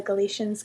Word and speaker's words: Galicia: Hi everybody, I'm in Spain at Corona, also known as Galicia, or pronounced here by the Galicians Galicia, with a in between.